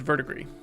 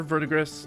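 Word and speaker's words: verdigris: And that is Verdigree. It's V E R D I G R I S. Vertigree or Vertigris depending on your pronunciation.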